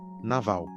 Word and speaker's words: Nabal: No primeiro livro de Samuel, capítulo 25, existe um personagem chamado literalmente Nabal, que no original hebraico a pronúncia seria Naval.